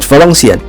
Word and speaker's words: Valenciennes: To be exact, it's located in the small city of the northern part of the France called Valenciennes. Well, that's how we pronounce it in French apparently.